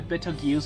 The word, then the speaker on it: Betelgeuse: So maybe the gravity on the Betelgeuse star is unstable.